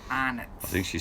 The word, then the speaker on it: Arnott's: You were so cute the way you said it, but we pronounce it here arnots.